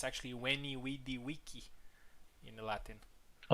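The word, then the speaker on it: veni, vidi, vici: So it's actually Weny wei wiki in the Latin.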